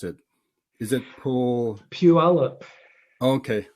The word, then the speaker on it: Puyallup: I couldn't pronounce it. Is it Puyallup.